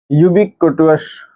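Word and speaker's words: ubiquitous: Next word देखते हैं, यूबिक्विटस। यूबिक्विटस। ठीक है, इस वर्ड को ऐसे ही प्रोनाउंसिएशन कर लेना, यूबी और क्यूटस, यूबिक्विटस। ठीक है, इसका ये आपका पार्ट्स ऑफ स्पीच में एडजेक्टिव की फॉर्म में आता है।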